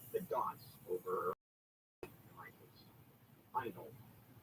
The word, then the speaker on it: Handel: Handel is the way it's pronounced.